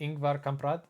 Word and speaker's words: Ingvar Kamprad: did I pronounce that correctly? Ingvar Kamprad.